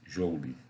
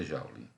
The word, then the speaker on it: joule: Você pronuncia no português joule, em inglês é joule.